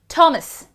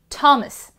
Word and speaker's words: Thomas: Thomas, practically H is silent, or you have to aspirate your T a little more, Thomas.